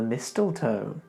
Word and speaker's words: mistletoe: Come kiss me under the mistletoe. Again, we've got weird silent letters.